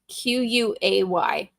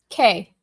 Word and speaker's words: quay: It just seemed so much like a fancier word than just saying K. So I've always said quay.